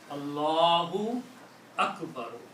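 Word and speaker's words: الله أكبر: actually Akbaru, okay, if you are reading these two words together, then you have to pronounce this letter correctly. So the sound will be Allahu Akbaru.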